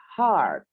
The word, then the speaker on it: heart: Jadi A itu bentuknya panjang. Dicontohkan di sini adalah pada kata heart.